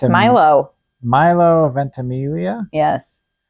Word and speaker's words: Milo: It's not Milo? No. It's Milo? It could be pronounced Milo too. It's not. M-I-L-O. I looked it up. I looked it up a lot. It's Milo.